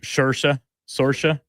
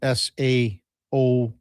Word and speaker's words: Saoirse: of these Irish ones, Seamus, who's that actor? Sorsha. And there's that's a whole different ballgame. We're talking about a different language, essentially. Yeah. That's spelled SAOIRSE. Yeah. Saoirse. That's how I've got it anyway, Duke.